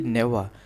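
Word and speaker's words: never: Sleep alone Arun नेवर यहां पे देखिए नेवर इसे हम नेवर नहीं पढ़ते हैं। लास्ट में जो आर है यानी कि र यह साइलेंट होता है। प्रोनाउंसिएशन में नेवर केवल पढ़ते हैं।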